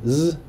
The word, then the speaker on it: FXOz: is funny because like in the GSL they pronounce his name Z, like just Z. So FXOz, like, that's what I heard, because like there can be confusion on his ID tag because he's from the team FXO and his name is Oz.